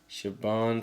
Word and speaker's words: Siobhan: name she's a familiar uh sioban I think like s i o u s i o b h oh Shan yeah shabon Fallon Hogan Valen Hogan sioban Valen Hogan Valen Hogan